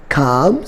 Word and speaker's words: calm: This is A, this is M, and L is silent here. For example, calm, C-A-L-M, balm, B-A-L-M, and third one is palm, P-A-L-M.